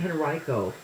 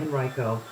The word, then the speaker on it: Henrico: This is, I think, Henrico School Board. I think that's how you pronounce it in Virginia. Yeah, Henrico.